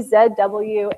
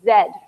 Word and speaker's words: Z: always tease me about my pronunciation of Zed so for all the Americans that's Z so that sometimes is sort